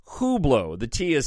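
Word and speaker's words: Hublot: die happy and then hublo which I found out that's how you pronounce it the internet lied to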